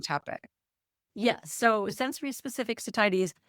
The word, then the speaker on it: satiety: Satiety. Satiety.